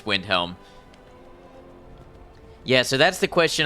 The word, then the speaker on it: Windhelm: windel yep you're right I've been calling it Winter Hold but it's Windhelm yeah so that's the